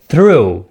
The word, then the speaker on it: through: كيف ننطق through؟ هي like true ولكن مفخمة. اوكي. او مفخخة. اوكي. so through. اوكي. نخرج لساننا بعض الشيء.